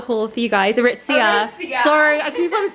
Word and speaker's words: Aritzia: this is Vanessa she's going to do my aritza haul for you guys aritzia sorry I keep on saying it wrong or